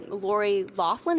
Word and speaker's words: Loughlin: Okay, so one of the famous families that's involved in this, Lori Loughlin, is that how you say her name?